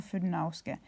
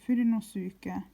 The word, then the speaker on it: Fudenosuke: If you can read, then you will see that it says Fudenosuke, right? Where's the camera? Not Fudenauske, Fudenosuke. Is it visible?